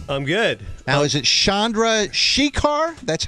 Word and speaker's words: Chandrasekhar: Now, is it Chandrasekhar? That's how he was telling me it's pronounced. How is it? It's Chandrasekhar.